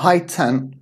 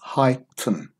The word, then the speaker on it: heightened: the sound hi Tim it's not high ten it's heightened here we don't say